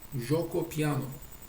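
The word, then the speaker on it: Giuoco Piano: ötürü müdahale ettiği açılışlarda ikincisinin ismi İtalyanca'da joko piyano diye bilinen açılmıştır şimdi bu nasıl yazılıyor nasıl okunuyor Ben satrançla ilgilendiğim devirden bu yana İtalyanca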